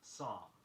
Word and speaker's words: psalm: There is no L sound in the word psalm, P-S-A-L-M, nor is there a P sound.